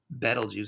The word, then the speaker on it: Betelgeuse: here's antaris and beetlejuice some people say betelgeuse actually that's the proper pronunciation better juice but we all say beetlejuice it sounds better beetlejuice is enormous look